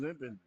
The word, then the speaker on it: Limpin: Number 7, Damian Limpin. That's how they say his name.